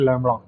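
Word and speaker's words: lambda: से दिखाया जाता है लैडा ठीक है कुछ और प्रोनाउंस करने मत लग जाना लैडा होता है व ठीक है डोंट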